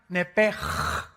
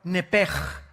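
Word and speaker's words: נֶפֶשׁ: La palabra, la letra o las letras sh en del hebreo se pronuncian en hebreo como J. Entonces se pronuncia nepj.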